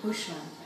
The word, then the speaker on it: Hooshmand: Is that pronounced right? Hooshmand.